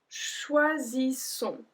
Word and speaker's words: choisissons: Nous choisissons, choisissons. So here it's a bit different because there's one S which makes the sound Z, and then we have two S which make the sound S. So choisissons, choisissons.